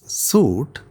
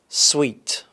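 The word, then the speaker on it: suite: We pronounce this word as suit, but it should be pronounced as. Sweet.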